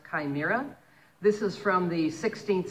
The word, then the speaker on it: chimera: something called a chimera it begins with a CH and I thought it would be chimra I've been saying it wrong all these years it's a chimera this is from the